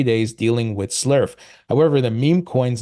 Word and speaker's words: SLERF: The first is Slurf. Yes, Slurf.